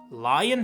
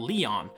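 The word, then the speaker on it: Lyon: well with a lot of possible ways to pronounce it. Lion has come up a lot, which is a very English way of putting it.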